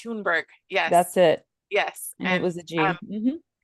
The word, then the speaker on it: Thunberg: Greta It's Thunberg.